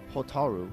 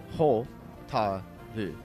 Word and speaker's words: Hotaru: But Hotaru, because like Ho-ta-ru is the way you would pronounce that.